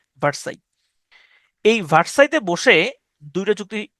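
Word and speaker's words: Versailles: এখানে যদিও লেখা আছে ভার্সেলিস উচ্চারণটা হচ্ছে ভার্সাই।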